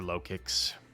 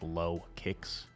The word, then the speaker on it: Lokix: been a while like I could see it being like lowkey or something but no I'm just I'm sticking with low I'm committed I'm committed to low kicks as the pronun pronunciation it sounds kind of like low kicks X scissor um and